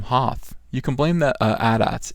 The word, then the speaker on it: AT-AT: You can blame the AT-ATs. It is AT-AT. Stop telling me how do you pronounce ATST. It's AT-AT and ATST and IG-88, but it is AT-AT.